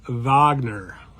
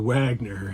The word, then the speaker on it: Wagner: And this guy as well, Honus Wagner, or Wagner, if you pronounce it in the English version.